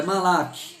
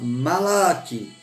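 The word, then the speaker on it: מלאך: Eu estou pronunciando aqui, irmãos, eu não tenho aquela pronúncia hebraica, tá? Aquele eu não faço. A minha pronúncia é português, tá? É malak. Eu estudei com um pastor, eu achava ele fantástico, porque a pronúncia dele era hebraica. Malak. Igual os judeus falam, eu não falo igual judeu, irmão.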